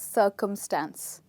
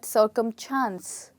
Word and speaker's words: circumstance: mean by this word a lot of english learners tend to call it circumchants which is wrong we don't have any ch in the word we only have s so the word is